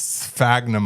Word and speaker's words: sphagnum: I thought it was sphagnum moss, but then I actually looked at the word and it's SPH, and then I did the pronunciation. It's sphagnum moss.